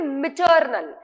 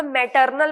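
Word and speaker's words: maternal: अब बहुत सारे लोगों को मैंने देखा है गलती करते हुए मैटरनल पढ़ते हैं, जो कि रॉन्ग है, जो कि एक्चुअली रॉन्ग है. मिटरनल इस तरीके से प्रोनाउंस करना है, MI वाला प्रोनाउंसिएशन आना चाहिए.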